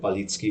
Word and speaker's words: Balicki: from english to hi my name is balitsky it's kind of it's hard to hard to keep the rhythm so beliki is just fine that's a cool pronunciation